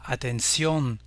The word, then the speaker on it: atención: syllabe et on dira atención, atención. Ici, pour les mots se terminant en sion en espagnol, on peut dégager une règle puisque tous ces mots, il s'agit de la dernière syllabe qui est accentuée.